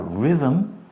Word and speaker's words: rhythm: If you have a rhythm, that's TH, and that's not vowel, consonant, and E, so it's short.